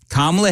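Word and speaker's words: Kamala: Donald Trump and not camela Harris oh snap not only does he come out and he supports Donald Trump but I think he was mispronouncing her name oh everyone I'm sure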